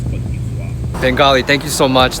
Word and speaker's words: Côte d'Ivoire: Yeah, in French it's Côte d'Ivoire.